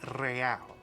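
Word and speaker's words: réal: You owe me 130 real. You pronounce the R with a mock aristocratic accent.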